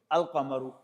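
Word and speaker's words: القمر: Now add to your vocabulary. The sun is ashamsu and the moon is alamaru. Now they both have in the beginning. But you find in the Quran like this. A shamsu kamaru. Here the lamb has been pronounced but in this case lamb has not been pronounced.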